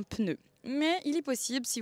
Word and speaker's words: pneu: Dans le sud de la France, ils prononcent un pneu, ce qui est totalement illogique parce qu'il n'y a pas de E entre le P et le N. Désolé Mathieu, mais on dit un pneu.